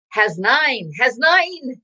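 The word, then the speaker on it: Hasnain: It is has nine. That's how you say his name. I asked him on his broadcast, how do you say his name? It's has nine. He has nine of something. Okay, has nine.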